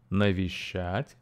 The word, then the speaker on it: Навещать: three syllables sh and the stress falls on the last syllable shat okay uh listen again and repeat nishat okay great so um